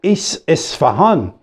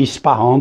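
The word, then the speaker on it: Isfahan: Fardo ethan En plus, il a bien prononcé le mot isfarhan. Ici, on dit isfaron patati patata.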